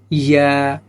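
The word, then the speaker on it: ياء: ইয়া, ইয়া শক্ত হবে না, স্বাভাবিক উচ্চারণ হবে এটা। ইয়া কি হবে, ইয়া, ইয়া। দুইটা ইয়াই উচ্চারণ একই, ইয়া।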